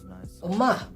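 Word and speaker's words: 엄마: call the mother "Omma" Omma in Yemen "Omah" Omah Omma with a double "M" and in Yemeni dialect we can tell its only 1 "M" Omma ..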